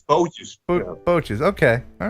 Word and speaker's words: bootjes: Zomar Watt Bootjez. Just some boats. That's what it's called. Zomar wat bootjes. Oh, but I said it right? Yeah. Well, I was close bootjes, anyway. But it's bootjes.